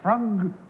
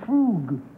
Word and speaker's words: frug: Number one, is it frug or is it frug? Well, it's carefully pronounced either way.